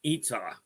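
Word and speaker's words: ytsau: we made it properly y t s a u pronounced itsa you know she's who I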